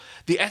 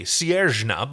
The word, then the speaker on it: Sierjna: Siersna. The second S is a J, Sierjna, but okay.